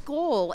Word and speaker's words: Skål: with the little mark above is not the way we would normally say it here, but it's Skål.